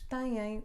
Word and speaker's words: têm: tem ele tem 30 anos eu ganhei eles têm uma pequena casa no mar essa era pessoa